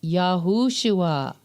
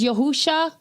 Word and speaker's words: Yahushua: Those pronouncing it as Yahusha, that's a scribal error. That's a scribal error. There's no Yahusha. It's Yahushua.